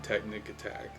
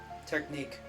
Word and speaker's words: technique: So like this, you could change their strategy, but I usually just keep it on technic attack. Technique. Technic. Technique is spelled with a Q, a U, and an E.